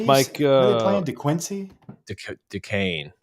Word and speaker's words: Duquesne: Duquesne, I think is how you say it. Duquesne. St. Thomas Aquinas, but only with D's.